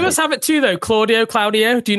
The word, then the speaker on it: Claudio: But I think that the Hispanic pronunciation of my name is Claudio. So, like, I'm used to it. Like, I've been being called Claudio by every Titi and Theo in my life for the majority of my life. So it's not like it's an incorrect pronunciation.